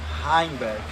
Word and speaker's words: Heimberg: Então a pronúncia é Heimberg. Heimberg.